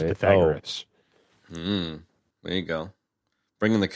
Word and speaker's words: Pythagoras: Pythagoras. Pythagoras. I've only ever read it in a book. That's how you're supposed to pronounce it. But everybody says Pythagoras.